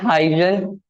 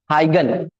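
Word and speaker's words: Huygens: अब इसके बाद आते हैं हजन हगन सॉरी बचपन में हमेशा हजन प्रोनाउंस करता था इस वजह से वही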